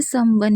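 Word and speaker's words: someone: देखिए अगर ऐसा है तो आपको वैसे ही पढ़ना है जैसे आप सिंगल इसे पढ़ते हैं। आप इसे सम और वन ही पढ़े। तब इन वोवेल्स को जोड़िए मत। क्योंकि हमेशा अगर आप उन्हें कोई वर्ड मीनिंग आप पहले से जानते हैं तो उसको उस तरीके से पढ़िए। आप उसको मिक्स के तरीके से मत पढ़िए। ठीक है? तो इसे समवन ही पढ़ेंगे।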